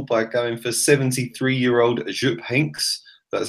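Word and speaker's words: Jupp Heynckes: surprised us all by going for 73 year-old Azure pinks that's how you say it you have a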